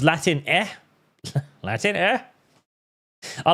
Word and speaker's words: Latine: It is now Latine, pronounced Latin eh.